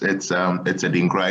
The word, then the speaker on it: 3Dinkra: Yeah, it's Adinkra. It's basically like a play of words. So in Ghana, in our alphabet, right? What we know as 3 actually is a letter in the alphabet, and it's pronounced E, right?